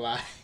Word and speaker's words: Il: Yeah, L, like the Italian word for the.